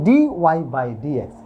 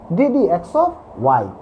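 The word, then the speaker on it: dy/dx: আমরা প্রায় একটা জিনিস ভুল করি এবং ভুল উচ্চারণ করি, বলি এটাকে ডি ওয়াই বাই ডি এক্স।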